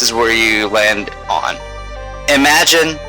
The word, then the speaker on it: Imagen: Imagen. Okay, so that's the pronunciation.